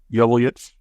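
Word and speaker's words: Joveljić: Is it Joveljic? Joveljic.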